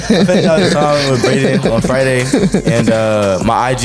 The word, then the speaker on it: Bradan: Y'all can get me at Bradan on YouTube, BRADAN. I also a music artist, BRAXDAN. Spelled, it's like pronounced Bradan though.